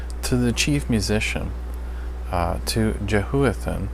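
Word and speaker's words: Jeduthun: Yeduthun.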